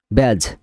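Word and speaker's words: badge: Eagle মানে এজ, ইডিজি এজ, এখানে সব ডি হচ্ছে সাইলেন্ট লেটার, ঠিক আছে। ইডিজি ইডস মানে প্রান্ত। ব্যাজ মানে প্রতীক, ব্যাজ মানে প্রকৃতিক, ব্যাজ মানে প্রতীক।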